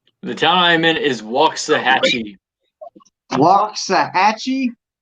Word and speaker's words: Waxahachie: in the middle or something how do you pronounce the town that you're in the town I'm in is Waxahachie block sahatchie not Waxahachie Waxahatchee that's how I